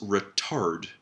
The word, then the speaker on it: retard: For those of you at a higher band that want to give it a try, remember to stress the second syllable. It's retard. Retard.